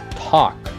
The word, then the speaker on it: talk: As palavras que tem o L e o K, o L não é pronunciado. Então, por exemplo, conversar, andar. Então, a gente fala talk and walk. Então, você não vai falar talk e nem walk. Então, preste atenção, porque a pronúncia é talk.